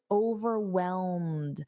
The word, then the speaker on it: overwhelmed: So, let's practice overwhelmed. Notice this ed dwellelmed. It's a very soft d.